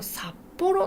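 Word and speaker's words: 札幌: 札幌、これ漢字札幌と読みます。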